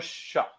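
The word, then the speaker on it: Shough: Slo uh, they how do I pronounce that? Uh, Bill Tyler Shock. Tyler Shock.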